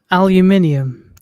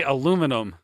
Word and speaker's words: aluminium: Say aluminum. No, that's wrong. I was hoping he'd just say aluminium because that's how they say it. There's aluminium, and then okay. there's the disgusting version, aluminum.